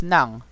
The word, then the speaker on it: ng: where you use nang here it's pronounced the same but if you you're not gonna get confused i'm just gonna say this you're not when you're talking to people you're not going to get confused because you're not going to see these words what you're going to hear is nang and depending on the